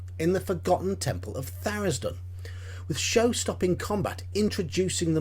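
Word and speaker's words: Tharizdun: eye on level two it's therisden definitely therisden you won't persuade me any differently on that one so what exactly is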